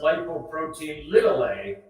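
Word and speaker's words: lipoprotein(a): it's an awkward word lipoprotein a lipo protein a and in fact it's actually pronounced lipoprotein little a because it's not a capital a it's never a capitalist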